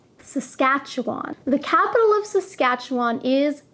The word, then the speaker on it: Saskatchewan: Saskatchewan is probably the most difficult province name to pronounce. Saskatchewan. Saskatchewan.